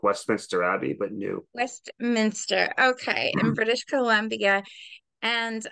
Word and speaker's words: New Westminster: it wrong because I said it wrong before New West Minister did I say right New Westminster like Westminster ABY but New Westminster okay in British Colombia and that's a beautiful